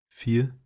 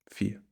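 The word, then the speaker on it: vier: really too much there fear um treat this v as an F I think that's going to help you with the pronunciation here fear it's sort of like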